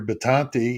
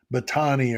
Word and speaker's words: Batanti: He kept he kept mispronouncing the guy's last name. It was driving me nuts. Although I heard something he played said Batani or whatever, but there's another T in there.